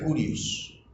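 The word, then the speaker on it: κύριος: La palabra Señor procede de una palabra que se pronuncia Kurios.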